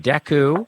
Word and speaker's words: Dekkoo: Season 2 launched on November 14th with new episodes each week through December now on Deku. That is spelled Dekkoo.